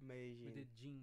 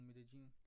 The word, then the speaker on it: Medellín: Ah, Lá eles sim, pronunciam sim. com som de tipo um J, né? Medellín. Medellín.